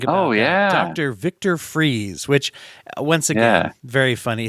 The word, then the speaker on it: Fries: oh yeah Dr Victor freeze which once again very funny his name is spelled more like fries I think but it's pronounced freeze once again one of